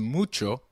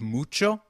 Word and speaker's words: mucho: notice the pronunciation of mucho we earlier learned that H is always silent in Spanish however when combined with C it is pronounced as CH as in church so can you try